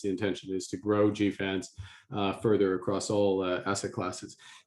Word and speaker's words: GFANZ: It's GFANZ. GFANZ, yes. Yeah, I like your pronunciation, Aryeh.